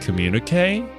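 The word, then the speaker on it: communiqué: It's pronounced like communique?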